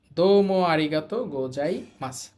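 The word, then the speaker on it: どうもありがとうございます: না গো যাই মাছ দম আরিগাত গোজাই মাছ এইযে সুটা শেষে আছে এজন্য শুধু ছ এর মত উচ্চারণ হবে তাহলে দোম আরিগাত গোজাই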